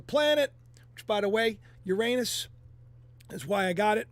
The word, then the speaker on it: Uranus: Uranus is a planet, which by the way, Uranus is why I got it. Remember, as a joke because I thought it was funny. I always laughed. Uranus is a planet, but it's Uranus. That's the way you pronounce it.